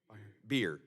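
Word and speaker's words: Bier: Byer, am I pronouncing your name correctly? Beer like the beverage.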